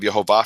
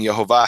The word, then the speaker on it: Yehovah: is the glory of yahovah from his place and yahovah has the full vowels and the vowels are yahovah and up until then